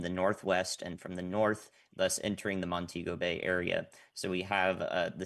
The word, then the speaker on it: Montego Bay: So on the north side, in particular in Montego Bay, which is how you pronounce that, the storm surge will impact all